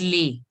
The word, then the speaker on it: les: See, les is pronounced as lay. Many of you are pronouncing it wrong in the test. Some are pronouncing it as la, some are pronouncing it, I don't know what.